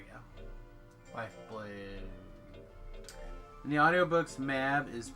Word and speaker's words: Mab: We also could have gone with Mab. Mabe? Mab? That's what I've always pronounced her name. Considering her name is M-A-B. I'm pretty sure it's Mabe.